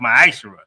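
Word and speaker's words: מעשר: It means 10th in the Hebrew, and it's pronounced Ma'ashara.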